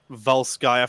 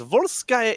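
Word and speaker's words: Volskaya: for me is it not so much a pronunciation difference but the fact it is Val skaia foundry and yet the map announcer says voir sky industries oh well not even so much in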